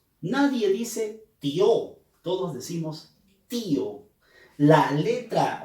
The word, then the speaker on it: tío: día y o nadie dice tío todos decimos tío la letra o la vocal y la pronunciamos con mayor énfasis es abocar es cerrada